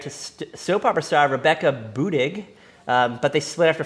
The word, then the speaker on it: Budig: Budig, yes. How do you say it? Budig? Budding. Buddin. It's Budig. There's no N.